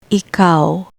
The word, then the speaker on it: ikaw: For the special vowel sound ow, remember it's not o but ow, ow. Ikaw, ikaw, ikaw, meaning you.